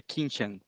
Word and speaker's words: Quintian: E o Quintian, é assim que pronuncia seu nome? É Quintian.